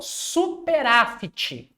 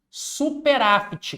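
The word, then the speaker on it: superávit: Professor, superáfite com T mudo.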